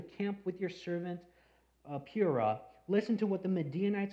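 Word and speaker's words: Purah: of the enemy camp whenever I first first read Pura I pronounced it Pura and then I thought it was to uh Pura something like that puru and I finally had to see how to pronounce it correctly Pur even when Gideon even when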